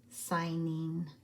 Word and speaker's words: signing: that it is singing but it is actually a ghost letter GN and the G is silent signing like I'm signing my